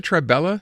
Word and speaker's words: Tribela: Do you pronounce it Tribella, Natalie? Yes, you pronounce it Tribella.